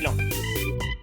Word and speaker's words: Laon: On va à celui au lac d'Elette, à Chamouille dans le 02, près de Laon, qui s'écrit Laon, mais faut pas chercher, ça se dit Laon.